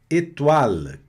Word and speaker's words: étoile: Olha a pronúncia também aqui do final, aqui esse L. Nunca um L no final da palavra vai soar como U. É étoile, étoile. O L na ponta da língua, no céu da boca, étoile, tá?